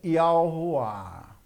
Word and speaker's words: Yahuah: Ó, eu pronuncio porém Yud, Re, Vav, Re, como Yahuwah.